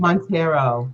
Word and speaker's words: Montero: I butchered it. Montero.